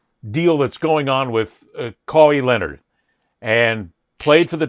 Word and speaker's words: Kawhi: watch this whole deal that's going on with Kawi Leonard and played for the Toronto Raptor. Kawawaii, let's say his name, right? Kawhi.